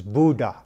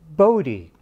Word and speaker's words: Bode: netherlands he was dutch his mother preferred the dutch pronunciation which i've been told is buddha and but his colleagues